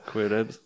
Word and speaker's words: coelebs: Ouais, ça s'écrit Coelebs. Ouais, Coelebs.